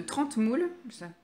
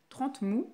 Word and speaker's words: Trentemoult: De 30 moules. 30 moules. Et 30 mous. Voilà. 30 mous, c'est comme ça que ça se dit. Ça s'écrit 30 moult, mais ça se dit 30 mous.